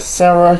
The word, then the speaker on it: Sarah: I know Americans call it Sarah, you know. I'm from the UK. We pronounce it Sara, you know.